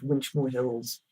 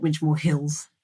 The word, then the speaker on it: Winchmore Hill: So we know it's not Winchmore Hills, it's Winchmore Hill.